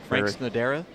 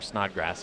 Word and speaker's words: Snodgrass: Frank Snodera? As you so gracefully put earlier today. Or Snodgrass, if you want to pronounce it correctly.